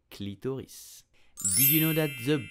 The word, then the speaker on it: clitoris: You will say clitoris, clitoris, clitoris. You have to pronounce the S at the end to say clitoris. Did you know that the body of the clitoris is suspended from the